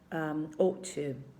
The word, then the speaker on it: ought to: So it's written O-U-G-H-T, but please be aware that every time you have a G-H written, in English, 99% of the time, you do not pronounce them, okay? Ought to. I don't know, you have the same when you say hi, slide, okay? GH, you tend not to pronounce it, so don't get frustrated, don't get scared.